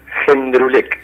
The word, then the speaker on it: Jendrulek: ¿cómo se pronuncia tu apellido? Jendrulek. ¿Jendrulek o Jendrulek? Sí, de cualquier lado.